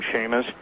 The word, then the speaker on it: Chamish: Yes, and interestingly enough, really interestingly enough, I don't know if you've ever read any of Barry Chamish, C-H-A-M-I-S-H, or some people pronounce his name Seamus, from Israel, but he's